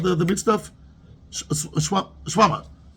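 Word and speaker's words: shawarma: Shwama. How do you pronounce it? There's an R there, right? Shwama. There's an R there or no R? Yeah. There's R. You don't pronounce it so much. Shwama.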